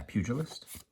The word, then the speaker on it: Pugilist: Zephyr Boots, Umbracal Juke, Mascot Interception, Cody Vociferous Codex, Augmenter Pugilist, I think that's how you say it, not Pugilist, yeah, Pugilist, it's a fighter basically.